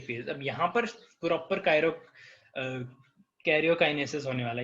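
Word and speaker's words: karyokinesis: अब यहाँ पर प्रॉपर कैरियोकाइनेसिस होने वाला है, यहाँ पे ना गेरी स्पेलिंग है बट ये टी की जगह आर है, कैरियोकाइनेसिस, ठीक है।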